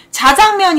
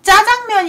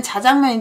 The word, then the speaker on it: 자장면: 자 이름으로 만들어 졌구나 자장면 인데 그 보통 짜장면 이라고 표현 하시는건 된소리 구요 진짜는 자장면 대해 가포 끌 작자